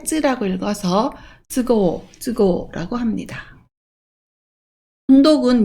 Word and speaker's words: 都合: 그리고 형편이나 사정을 얘기할 때 쯔라고 읽어서 쯔고라고 합니다.